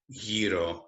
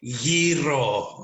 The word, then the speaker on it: gyro: thing to eat is probably gyro or gyro, however you ever want to pronounce it. But we in the Greek community call it gyro, okay, with the r.